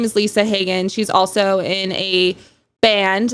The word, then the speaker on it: Haagen: name haen uh Hagen is spelled like hogen dos ice cream uh if that is an easy way to remember it uh I also have